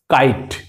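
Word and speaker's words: kite: দেখেন ক আই ট কাইট কম আই টা কি হইছে কাইট শেষের ই কি হয়ে গেল লেখাই আছে কিন্তু উচ্চারণের দিক থেকে কি হয়ে গেল silence K আই টি ই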